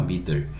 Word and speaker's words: middle: 뒤에 한 번 또 똑같은 거 두 번이니까 한 번 필요 없고 L은 받침으로 오니까 middle, E는 묵음이니까 이거 middle이라고 읽는구나.